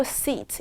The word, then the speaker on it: seat: 요거 EA 같이 있으니까 길게 빼는 거. sit 아니고 seat. 이렇게 발음해 주세요.